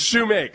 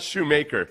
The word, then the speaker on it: Shoemake: It's Shoemake. It's not Shoemaker.